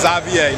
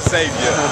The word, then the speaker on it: Xavier: Most of them don't know how to pronounce my name because I was born in Belgium, but it's Xavier, not Xavier. It's just spelt like Xavier.